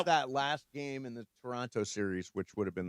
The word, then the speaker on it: Toronto: Toronto. Um, Brian, say it. Toronto. Okay. Brian and Emily said it correctly. Mace did not say it wrong. Why? You don't pronounce the second T.